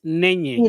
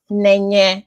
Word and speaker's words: Nenye: How can you pronounce it? It's Nenye. It's Nenye. So Nenye. Okay. yeah, Nenye. It's coined from Chinenye.